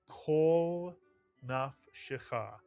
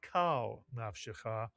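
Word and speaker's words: כל נפשך: phrase all your soul, the kamatz under the kaf is not pronounced as a patach ah, but retains the or sound because kol is really a closed syllable. The lamed has a silent shva, and it is as if it is the first syllable of a two-word phrase. Kol nafshecha, not kal nafshecha, kol nafshecha.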